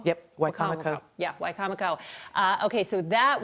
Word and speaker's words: Wicomico: This was, am I pronouncing this right? Wicomico? Yep, Wicomico.